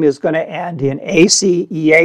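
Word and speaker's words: aceae: in the united states we are going to pronounce it in the us way which is ace so here is the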